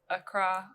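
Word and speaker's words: Accra: We uh started in Acra. Acra. Yeah. Am I saying it right? Yeah, Acra. That's the right word.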